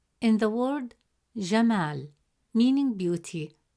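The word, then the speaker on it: جمال: Fourth example, the word jamal. In the word jamal, meaning beauty, the letter mim has a fatha vowel, which gives it a short a sound, pronounced as ma.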